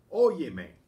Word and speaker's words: óyeme: We have the accent on the O to keep the stress on the same syllable it was without the added pronoun.